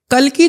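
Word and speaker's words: कलि: राक्षस जो कली है ना उसको काली भी कह देते हैं, कली भी कह देते हैं, लेकिन एक्चुअल में काली नाम है वैसे उसका, बट क्योंकि लोग माता काली ना समझ ले तो कली प्रोनाउंसिएशन ट्रू रहेगी उनकी।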